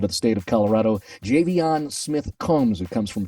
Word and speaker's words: Javion: with the Rams and Javion let's start with the nuts and bolts as far as pronunciation of your name it's not javian it's right yep Javion JB on so we got to